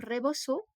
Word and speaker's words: rebozo: sur leurs cheveux euh ce tissu là donc reboso ça s'écrit r e B O Z o et